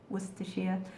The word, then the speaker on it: Worcestershire: Worcestershire. Or actually, sometimes we just say Worcester sauce, because we don't need to say Worcestershire, because we know what it is.